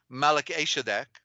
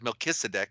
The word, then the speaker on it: Melchizedek: Well, the lineage of the pure tribe came through Shem, who is correctly Asham, who is actually Malach-Eshadek, okay, mispronounced as Melchizedek, but it's Malach-Eshadek.